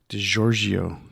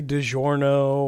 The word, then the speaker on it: DiGiorgio: Greg Christian left, and then they brought in Steve DiGiorgio. Haha, I said it right. And you didn't say DiGiorno or no, I didn't say DiGiorno. I didn't say Di Gregorio. I said it correctly.